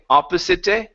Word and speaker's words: opposite: opposite Shore okay now the e at the end of words is silent so instead of saying opposite it's opposite it ends on the T opposite the opposite Shore